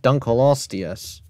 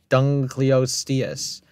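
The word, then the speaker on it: Dunkleosteus: an ancient ancestor of modern crafts dunas it's pronounced dun colosus not dunas well dunas is not horrible but like just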